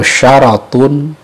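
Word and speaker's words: شَرَطٌ: Tapi kalau syaratun, asyrat. Syartun kalau ra-nya disukunkan, syartun, bentuk jamaknya syurut, artinya syarat. Tapi kalau syaratun, ra-nya diberi harokat fathah, maka bentuk jamaknya asyrat.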